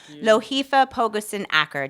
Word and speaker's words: Lohifa Pogoson Acker: local Hamilton community know this magnificent human being, Loheifa Pogusen Aker. Did I get the pronunciation close?